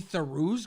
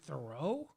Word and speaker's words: Theroux: me more like louis theroux's grandfather did yeah great great because you know one side of his family pronounces it theroux and the other pronounces it throw but they're the same